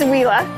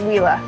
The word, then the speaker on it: Huila: wheela region this is whea a lot of people have a hard time pronouncing it and we've actually heard some Colombians say it a little bit differently but it is whea this is our second